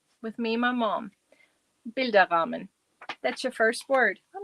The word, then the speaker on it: Bilderrahmen: This is pronounced Bilderrahmen. That's one word. Bilderrahmen.